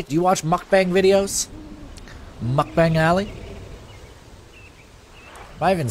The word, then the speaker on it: mukbang: __ ] Ally do you watch mukbang videos mukbang alley am I even saying it right am